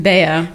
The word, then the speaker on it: Bea: Remind me again, what's the correct pronunciation? Bea. Bea.